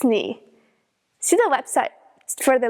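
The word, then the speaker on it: nu: By the way, almost all English speakers mispronounce new. In modern Greek, the letters that we pronounce as mu and new are actually pronounced as mi and knee. So, no, no, no, it's not that. It's ni.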